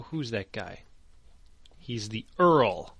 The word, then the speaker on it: Earl: He's the Earl, not Yarl. Earl.